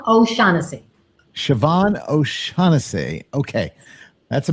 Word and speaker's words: O'Shaughnessy: Siobhan O'Shaughnessy.